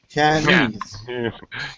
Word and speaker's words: Chinese: Chinese Chinese Chinese Chinese Chinese he's Chinese all right normal stress normal if we just say the word Chinese we we're gonna stress the Chinese Chinese second syllable yeah however uh we